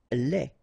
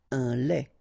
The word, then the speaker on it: lait: Lait. Un lait. Okay, so the only difference is final thing here, de, you don't pronounce it, te, you don't pronounce it, so phonetically you only have this le.